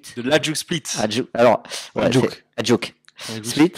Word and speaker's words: Hajduk Split: Alors, ouais, Hajduk Split. Et je crois qu'ils ne le prononcent pas comme ça, ils disent Hajduk Split, un truc comme ça.